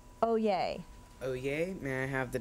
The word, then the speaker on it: oyez: Oye, are there any alternate pronunciations? Oh yes, oh yes.